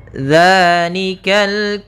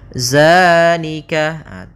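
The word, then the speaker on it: ذٰلِكَ: Hati-hati dalam pelafalannya. Hati-hati dalam pelafalan zal, jangan dibaca dengan zai, jangan zalika. Bukan, dia bukan huruf za. Bukan dengan bacaan zai. Di sini tidak dibaca dengan zai, akan tetapi dengan zal, ujung lidahnya menempel dengan gigi seri atas.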